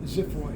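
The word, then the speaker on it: xiphoid: gladiolus at the tip Zid it's spelled with an X but it's pronounced like a z x y p h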